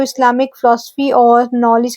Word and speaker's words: इस्लाम: अह सबसे पहली बात प्रोनाउंसिएशन इसका जो सही उच्चारण है वो इस्लाम है जहां दूसरे सिलेब पर जोर दिया जाता है और लिटरल मीनिंग की